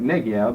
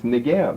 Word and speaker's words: Negev: Or people say it Negev, but it's Negev. Hebrew's accent on the last syllable, not the first.